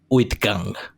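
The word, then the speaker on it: uitgang: you're still here um exit in dutch is pronounced as with gang thank you is that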